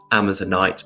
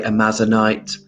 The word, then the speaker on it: amazonite: um amazon river so it is pronounced amazon night but some people say amazonite tamela tamara uh mrs